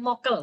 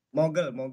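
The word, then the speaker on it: 먹을: di-mute bakso mokel Kay bukan mokel bacanya gimana mogel melul bagaimana kalau makan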